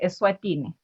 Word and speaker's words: Eswatini: 11 p.m and um i think you've got the pronunciation right it's the kingdom of esswatini so commonly known as the king kingdom of essuatini yes all right you